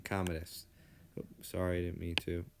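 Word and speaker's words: Commodus: aurelius's son uh kdus that's how you pronounce his name kdus sorry I didn't mean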